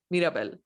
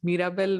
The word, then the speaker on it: Mirabel: joke I don't know they named Mirabel which rhymes with Miracle yeah I think it's